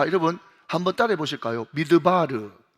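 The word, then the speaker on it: מדבר: 여러분 광야가 뭔가 하면 미드바르 MD B R 그죠? 그러니까 항상 여러분 제가 왜 지금 스펠링을 이야기하는가면 여러분 히브리어는 자음밖에 없거든요. 그니까 미음 디귿 리얼 비업 이렇게 해가지고 미드바르라고 그들 읽어요.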